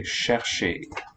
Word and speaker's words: chercher: In French, the fricative is assimilated. We say chercher.